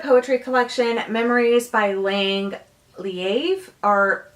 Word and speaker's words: Leav: collection memories by laying leaves or there's a different pronunciation I've always said leaf but I guess I'm saying that wrong but okay so I